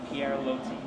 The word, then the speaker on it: Pierre Loti: How do you pronounce the name of this restaurant? Pierre Loti. Pierre Loti.